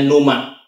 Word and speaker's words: pneuma: yaitu Numa ya ya tulisannya pneuma Tapi bacanya Numa seperti cuma NU ma gitu ya Artinya Roh Kudus